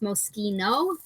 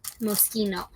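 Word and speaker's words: Moschino: in right now uh this brand just so we're all clear is pronounced mosino and we're going to get better at that not like the Cherry yeah mosino uh okay the other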